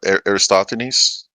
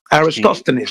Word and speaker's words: Aristophanes: I'm not sure how to pronounce his name, but I think it's pronounced Aristophanes. Yes, okay. Aristophanes.